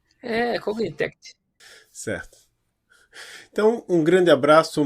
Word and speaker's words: Cognitect: Cognitect. Então acho que tem um Tzinho no final. Cognitect.